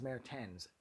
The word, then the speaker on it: Mertens: to get any real clarification on how to pronounce his name and so his last name is mayor tens that's for sure his first name is wim